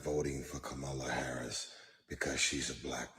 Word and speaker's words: Kamala: See, as intelligent as you are, and you are actor, singer, and philanthropist, and all of the above, you can't even pronounce her name right. It's Kamala.